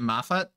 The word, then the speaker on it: Mafat: I pronounce it Mafat.